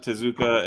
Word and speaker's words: Tezuka: t-e-z k-a okay okay you say like manga to zuka and you'll see everything